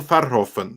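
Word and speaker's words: Verhoeven: hovering ah here we go let's contact paul farhoffen that's how you pronounce it by the way he has been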